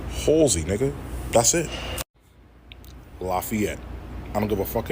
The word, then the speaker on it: Lafayette: I don't give a fuck if it's not an E after the fucking F. It's Lafayette. Lafayette, nigga, not Lafayette or Lafayette. Nigga, no, bro. Who the fuck is teaching y'all this shit?